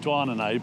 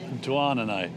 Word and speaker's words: Douarnenez: We always want to call it Douarnenez, but Douarnenez, which is at the very least difficult to pronounce.